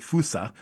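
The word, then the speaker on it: fossa: It's it's spelled for your listeners, it's spelled fa, but on the ground for whatever reason in Madagascar, they pronounce it fussa.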